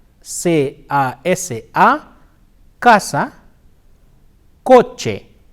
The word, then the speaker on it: casa: the interdental sir the C can also be pronounced like her as an Casa c'est si ah Casa coach a say oh say hae Oh kuba